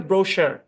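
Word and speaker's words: brochure: সেই ব্রোশার এখানে সি এইচ এর সাউন্ড তালব্য স এর মত হবে তো সম্পূর্ণ শব্দের উচ্চারণ হচ্ছে ব্রোশার খুবই কম ব্যবহার হয়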